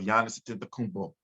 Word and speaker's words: Giannis Antetokounmpo: But I think we're in the era of Giannis Antetokounmpo.